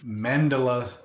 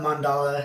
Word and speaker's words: Mandala: I'm actually here present with you at Mandela. Did I say it right? Mandela. Mandala. Mandala. I didn't get it right.